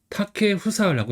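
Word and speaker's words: 建英: 이름 같은 경우는 이제 타케 후사라고 읽어요. 그래서 세월거는 이제 타케로 있고 꽃뿌리형은 이제 후사 이렇게 있는 거 알 수 있습니다.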